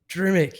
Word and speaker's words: Drmic: I really didn't want to pronounce the name wrong. Drmic? Yeah, Drmic. Drmic, yes.